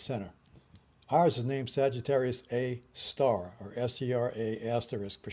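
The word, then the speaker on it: Sagittarius A*: center ours is named Sagittarius a star or ser a asterisk for short but pronounced Sagittarius a star Sagittarius a star is a 4.1 million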